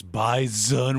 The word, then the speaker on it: bison: Also, if you can't listen to that clip without being like, "It's bison with a Z. You pronounce it like a Z."